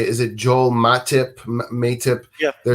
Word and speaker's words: Matip: Is it Joel Matip? Yeah, their Matip.